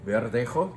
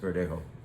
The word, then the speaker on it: Verdejo: Verdejo, perhaps it's more properly pronounced, is grown near Madrid.